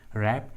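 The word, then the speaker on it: wrap: डब्ल्यू का आवाज़ नहीं आ रहा है, डब्ल्यू साइलेंट है। रैप and right.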